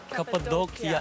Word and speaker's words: Cappadocia: Cappadocia is the way we pronounce it.